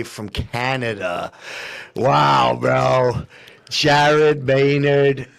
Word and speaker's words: Maynard: Jared Maynard. Maynard is how we pronounce the last name.